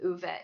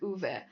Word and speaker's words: Uwe: Like, Uwe. It just Yeah, it sounded just unusual to me. Okay. It kind of sound like an Uber. Like, something like that. The way she pronounces it.